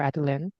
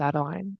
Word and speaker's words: Adeline: people call me Adeline if you're more European then my name is pronounced more Adeline if you're more American then it's Adeline doesn't matter that much